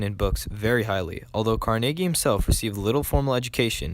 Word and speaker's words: Carnegie: Not Carnegie or Carnegie, but Carnegie.